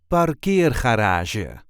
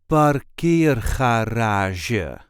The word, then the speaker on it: parkeergarage: This is the way we say Parkeergarage. Parkeergarage. There is a light emphasis on the second syllable.